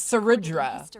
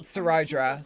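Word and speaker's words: Cerydra: That's Seridra, not Saridra. Like dumbass Lana has been saying.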